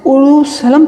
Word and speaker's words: اورشلم: بھی پہلے موجود تھا، اور اس کا تلفظ اورشلم تھا، جس کے معنی شہر